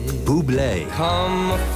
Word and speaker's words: Bublé: You pronounce it Bubé.